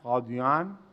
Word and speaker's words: قادیان: اس کا اصل نام ہے قادیان, اور تلفظ جو ہے وہ چونکہ دال کی آواز زیادہ تھی اس لیے پھر لفظ دعاد بدل کر دال لکھا جانے لگا.